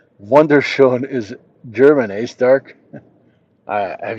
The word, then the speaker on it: wunderschön: Organic says, "Wunderschön is German, eh, Stark?"